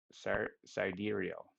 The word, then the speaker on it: sidereal: Sar, Sidereal.